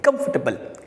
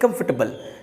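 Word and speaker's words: comfortable: शब्द को बोलते हैं कॉमिफर्टेबल कंफर्टेबल डी रूम इसे कंफर्टेबल तो इस तरह से आपको इस शब्द का सही प्रोनाउंस करना है कांफरटेबल ठीक है चलिए आगे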